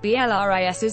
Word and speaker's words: BLRIS: ATF BLRIS's meaning is described as a combination of bliss and ELRIS, meaning that ELRIS and their fans are each other's bliss. BLRIS is pronounced similarly to the word bliss.